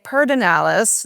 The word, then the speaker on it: Pedernales: sort of integrated uh of course people say peralis that is a LBJ thing uh and Lennon Bain